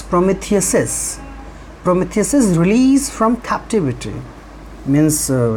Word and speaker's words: Prometheus's: So Prometheus's, it is written Prometheus and apostrophe, but it will be pronounced as Prometheus's.